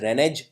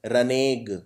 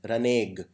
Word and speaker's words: renege: Please note this word is pronounced not as renege but as renege. Okay, so this is the pronunciation, renege.